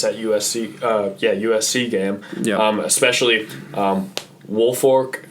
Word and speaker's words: Woolfolk: Especially Woolfolk. I always mispronounce his name because I want to say Wilfork, but he had those 2 interceptions.